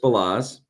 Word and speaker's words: Balazs: Balazs.